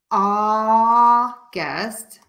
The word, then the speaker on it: August: and author okay so for the word August that a u we are just going to pronounce it as an ah so we're going to